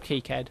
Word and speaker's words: KiCad: Yeah, it's actually called KiCad. I believe that's how you pronounce it.